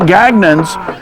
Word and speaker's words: Gagnon: We weren't Gagnons until later did we Americanize the pronunciation of our name, Gagnon, but we were always the French pronunciation, Gagne or Gagne.